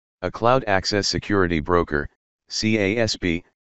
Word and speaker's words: CASB: cloud access security broker casb sometimes pronounced cobi is on-premises or cloud-based